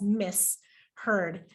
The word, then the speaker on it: misheard: misheard you know that the juncture between the s and the h is between two morphemes and thus that's how you separate it and know that you pronounce it as miss heard as two different graphemes